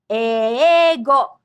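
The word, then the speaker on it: 英語: Eigo. The initial e is a double vowel or long vowel pronounced e.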